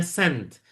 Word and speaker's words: scent: Jadi membaca ini ya ini seolah-olah C-nya hilang. Jadi seolah-olah membacanya sent padahal ada C di situ ya.